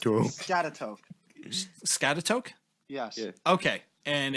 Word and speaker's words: Schaghticoke: Skagatoke. Scatatoke. Skagatoke. Oh my god. This is horrible. Apparently it's pronounced Scatatoke.